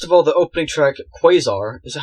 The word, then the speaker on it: Quasar: First of all, the opening track, Quasar, is that how you pronounce it? Yeah, Quasar.